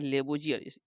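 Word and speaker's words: Lavoisier: और लेवा यानी कि लेबो जियर इंग्लिश में इसका जो उच्चारण हो जाएगा लेबो जियर और इसे जो है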